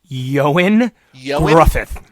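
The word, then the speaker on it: Ioan Gruffudd: His name is pronounced Yoan Gruffith.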